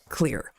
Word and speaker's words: Xlear: It's Xlear, but it's spelled Xlear, pronounced clear.